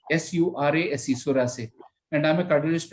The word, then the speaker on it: Surase: Now, as an interventionist, my name, I think you pronounced a little wrong. My name is Surase, S-U-R-A-S-E, Surase.